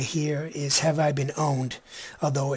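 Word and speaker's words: Have I Been Pwned: this is pronounced this word right here is have I been owned although it's spelled pwn ad its have I been have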